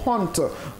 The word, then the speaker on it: honte: C'est comme quand on prend le mot honte. Honte, souvent les gens disent ah honte, honte, le H il ne se prononce pas, on dit tout simplement honte, mesdames et messieurs, et c'est en vertu bien entendu de l'alphabet phonétique international que nous déroulons cette règle.